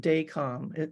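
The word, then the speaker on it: Dacom: Professionally, he started a cable TV company in Seoul, South Korea, and later sold it to communications conglomerate Daycom. Am I pronouncing that right, Pete?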